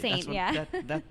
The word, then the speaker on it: S41NT: It's S41NT. It took me a long time to pronounce that as Saint. They had to tell me. I had no idea how to pronounce that. So it's written in leet speak.